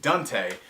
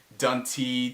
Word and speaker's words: Dunte: joke between us, because middle name is spelled D-U-N-T-E, and it's pronounced Dante, but everywhere he goes, people have this weird pronunciation of it. It's ranging from Dunty to Dunty, the way I pronounce it, to basically everything that's but the correct pronunciation.